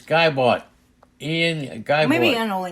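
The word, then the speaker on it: Ian Gibaut: I don't know if that's how you say his name. That's it. But we shouldn't put an L in there. It's Geibalt. It's Geibalt.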